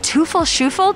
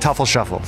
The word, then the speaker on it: Teufel Sheufel: here with from toofle shuffle tuffle shuffle i don't know how to pronounce it how do you pronounce your name it was pronounced tefl shuffle what does it mean